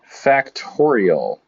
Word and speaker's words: factorial: It's by definition written n exclamation point, and it is called, or pronounced n factorial.